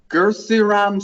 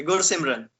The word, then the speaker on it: Gursimran: that he made, and I'm probably saying his name wrong. Gursiram Singh. Can you please spell it? Yes, Gursimran. Okay, Gursimran.